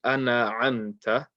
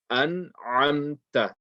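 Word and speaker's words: أنعمت: So you don't want to say, don't say ana amta. You have to say an amta and say it slowly. To practice it, say it slowly. An amta, an amta. Okay. You can't read that as a fatha.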